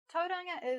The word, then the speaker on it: Tauranga: Notice again the toe, just like in Taupo. R, just like in Rotorua. And then we have a new sound, ngā, Tauranga.